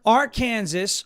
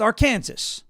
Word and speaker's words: Arkansas: when I'm the president, if it will be pronounced Arkansas, there is no reason why that should be pronounced Arkansas.